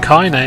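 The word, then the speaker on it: Kainé: go back to KY it's pronounced cai nay I was calling a coin just shows how much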